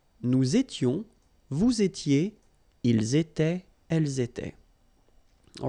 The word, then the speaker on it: étaient: Était, était, était. And the last one, était. So you pronounce them the same way. J'étais, tu étais, il était, elle était. Nous étions, vous étiez, ils étaient, elles étaient.